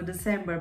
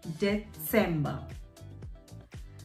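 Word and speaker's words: Dezember: December, so instead of C, D-E-C-E-M-B-E-R, we replace the C with a Z. Set, again, remember the Z pronunciation, Vatsala, Utsa. So December becomes December. December.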